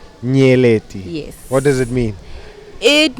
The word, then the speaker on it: Nyeleti: say your name lady nearly so the NYE is together nearly not nearly nearly what does it mean